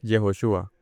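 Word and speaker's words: יהושע: Eh, Josué en hebreo es, o se dice, se escribe Yehoshua, que significa Jehová salva.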